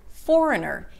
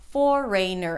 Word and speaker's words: foreigner: He says that he keeps saying it as foreigner, and in fact I've heard a lot of people saying it this way, and I've heard foreigner as well, or foreigner, and you know what? I have one word for you. Schwa. Because it's all one big schwa. There is no A and there is no E. It's all reduced except for the first syllable.